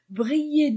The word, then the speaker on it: brillent: l'Opéra des lumières brillent e nt ne se prononce pas Brill déjà pierre ce des